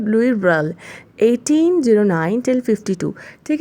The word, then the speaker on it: Louis Braille: ठीक है, फिर कुछ सालों बाद some year later a blind man कॉल्ड लुई ब्रेल, एल ई जो है वो साइलेंट है, तो ये है लुई ब्रेल, 1809 till 52.